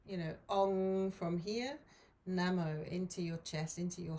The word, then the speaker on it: namo: ong okay and then namo so it's a kind of short n a and then a bit of a longer mo nemo is like